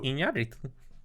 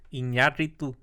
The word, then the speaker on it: Iñárritu: how you pronounce his name? Yeah. I mean, I would believe him over me. Well, yeah, no. Iñárritu. Say it. Iñárritu.